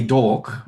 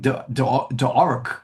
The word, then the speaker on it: D'Orc: d apostrophe or it's obviously supposed to be dork, right? That's the play on words and it and they they I think they're even mispronouncing the word orc and it's like d orc or something like that and I'm going dork.